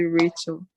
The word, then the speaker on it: Rahel: I know it's Rachel without the C, so I'm supposed to pronounce it Rachel.